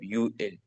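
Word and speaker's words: 유월: यहाँ पर हमारे साथ कैलेंडर में युक नहीं बोलेंगे, हम सिर्फ यू एल, यू एल मतलब छठवां महीना, या इसके साथ 6 तारीख। तो इस तरीके कार सो हम यू से सिर्फ प्रोनाउंस करेंगे, युक नहीं कहेंगे, यू।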